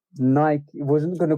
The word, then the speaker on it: Nike: n i c k n i k e i mean how do you say n i k e Nike right in the UK we call it Nik right yeah like Mike Mike Nike exactly but fun fact